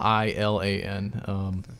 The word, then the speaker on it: Eilan: at first you know pronounce it correctly but it for those i guess listening it starts with AE yeah yeah I LAN hashtag good there you